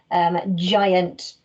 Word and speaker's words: giant: ab out about ah giant is the word you definitely have to get right in this sentence because it uses our soft g giant i wonder what punctuation